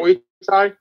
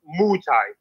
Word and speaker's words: Muay Thai: It's not Muay Thai. It's Muay Thai. Muay Thai. I don't really care how to say it, Danny. I say Muay Thai, okay?